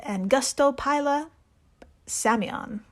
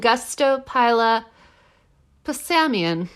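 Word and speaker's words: Angustopila psammion: land snail this is ang Gusto Pila samon nailed it can I try it and and Gusto Pila P samian yeah samian I'm assuming the p is silent yeah it looks like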